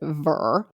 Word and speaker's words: vir: word for man was weir spelled v-i-r we would pronounce it ver so if you are